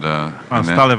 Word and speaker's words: Stalev: And Stalev is probably the proper way to pronounce it. Yeah, but right. Many Americans go like they has to leave.